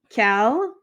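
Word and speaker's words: quel: interrogative adjectives we have cal so they're all pronounced the same but they have just a little bit of different spelling so the first one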